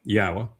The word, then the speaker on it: Yahowah: Yahowah, which is the proper pronunciation of Yod He Wah He as directed by the Torah. Torah tells you how to pronounce the Wah as the O.